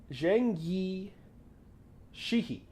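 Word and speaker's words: Zheng Yi Sao: a break people uh Zhang Yi Sheehy I think is how you pronounce it and she's uh she's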